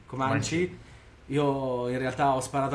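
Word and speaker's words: Comanche: Che quando mi hanno detto ammazza questo villaggio di donne, come si pronuncia? Comanci.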